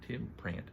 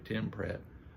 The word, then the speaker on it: Tim Pratt: it was outstanding the doors of sleep by Tim prant pronounced his name wrong doors of sleep by Tim Pratt pick this up I think you are going